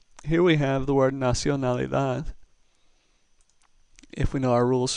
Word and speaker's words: nacionalidad: in rule number 1, so therefore our last syllable gets the stress. Nacionalidad. That's where the emphasis is, on the dad.